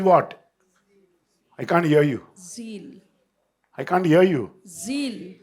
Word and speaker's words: Zeal: ज़ील, I can't hear you. ज़ील, No, L, God, and Z. Z L. Who is with God? तो परमेश्वर के साथ Who is कौन with है? God? ज़ील।